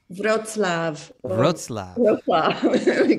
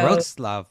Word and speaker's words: Wrocław: Wrocław. Why don't they spell it that way? I don't know. No. Wrocław, Poland.